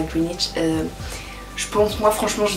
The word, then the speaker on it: Greenwich: Et aussi je suis allée à Greenwich, donc Greenwich, ça s'écrit comme ça, donc Greenwich, mais on dit Greenwich, qui est le quartier, vous savez, où il y a l'observatoire du Méridien, voilà.